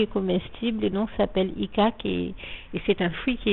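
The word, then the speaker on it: icaque: de l'icaquier que l'on appelle en français donc icac. Ça s'écrit I-C-A-Q-U-E.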